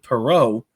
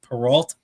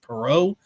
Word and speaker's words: Perreault: Gabe Perreault, that's how you pronounce it. It looks like Perrault, but it is pronounced Perreault, makes his NHL debut tonight after his junior year of college.